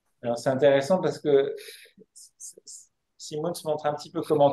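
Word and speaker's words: Simoens: s'appelle y Simons alors ça s'écrit ça se prononce Simons mais ça c'estécrit simoin c'est par particularité wallon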